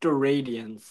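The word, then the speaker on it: steradians: Also also it's actually pronounced st radians.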